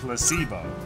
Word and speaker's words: placebo: after me Flo H the stress is on the middle syllable mhm yes Placebo very good you're figing